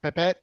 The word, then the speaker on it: Pepette: All you guys were a pipet. Am I pronouncing it right? Pepette.